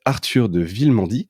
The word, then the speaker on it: Arthur de Villemandy: Alors pour m'accompagner dans cet épisode, j'ai le plaisir d'être avec Arthur de Villemandy. Je le prononce bien, Arthur ?